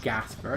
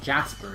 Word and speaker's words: Gasper: At least I think that's how you pronounce his name. Gasper. It's not Jasper, is it?